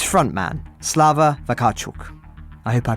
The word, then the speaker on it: Vakarchuk: Elzy, it's frontman, Slava Vakarchuk. I hope I pronounced that right. Yes, absolutely. Wonderful. Mostly we say Vakarchuk, but, in England, you can just call me Slava.